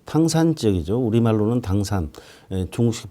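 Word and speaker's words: 唐山: 당산 모델 한 바트의 글로벌 산악 협력 모델 중에 그 탕산 적이죠 우리말로는 당산 중국식 발음으로는 이제 당산이 되겠습니다 탕산 지역은 어 좀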